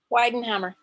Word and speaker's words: Weidenhammer: So she's bringing in Weidenhammer. Is that how you say it? Sorry. Weidenhammer.